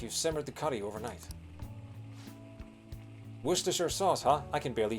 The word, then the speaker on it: Worcestershire: The Cester part, like the first part of that is all one syllable, and that's French influence.